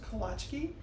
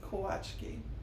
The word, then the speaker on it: Kołaczki: You may have heard this word pronounced Kolaczki, and that's because the L in this word has a little slash on it. There's a W sound to that in Polish. So Kołaczki would be an English pronunciation, Polish would be Kołaczki.